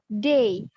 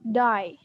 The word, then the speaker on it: day: If you pronounce like die, itu mati artinya, bukan hari. Jadi day, not die.